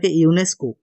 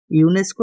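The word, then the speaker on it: UNESCO: হোনেস নয় কিন্তু জিবিলাকে আকু আমি একে লগে উচ্চারণ করি দিব যে ইউনেস্কো আমি ইউএনএ টু ইউএনও টু ইউএন ও ও সেপারেটলি পহু কিন্তু ইউনেস্কো একে লগে পহু এতেও এনেকে ন পহে ইউএন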